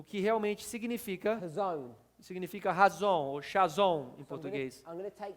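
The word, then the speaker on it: חזון: palavra visão is the hazon. é no hebraico chamado razon, e se escreve da forma chazon.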